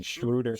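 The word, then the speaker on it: Schröder: Honestly, it is an annual tradition at trade deadline time for Dash, how do you say his last name? Shruder.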